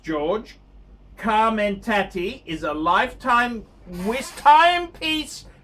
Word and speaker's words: Jorge: George, pronounced George, Carmenaty, is a lifetime timepiece enthusiast from Texas,